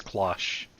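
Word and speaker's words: cloche: Okay, it is clash.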